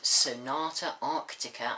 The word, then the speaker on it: Sonata Arctica: I'm going to be doing a review of Sonata Arctica I think that's how you say it um